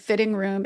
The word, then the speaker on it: Fhitting Room: And Fitting Room is spelled Fhitting. New York Sports Club is another place.